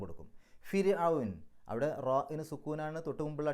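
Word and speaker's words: فرعون: ഇപ്പോൾ കനമില്ലാതെ ര് എന്നാണ് പറയേണ്ടത്. ഫിർഔൻ എന്നാണ് പറയാം, ഫിർഔൻ.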